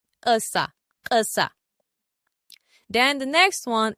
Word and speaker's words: kasa: If you want to say I fell down, the pronunciation of K-A-S-A as in ground or down is Kasa. Kasa. Kasa. Then the pronunciation of country or sand or soil is Kasa.